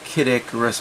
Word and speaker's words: Kid Icarus: i think i'll do this one that is kid icarus by the way just in case you wanted to know that's how it's pronounced in japanese open that up and you're